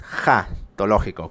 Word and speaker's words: escatológico: Porque el pensamiento escolástico, y sobre todo el escolástico escatológico, no escatológico, es jatológico con J. Así les cueste más trabajo, se pronuncia así, y así suena un tanto extraño.